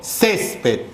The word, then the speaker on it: césped: Césped. Sílaba tónica, ces.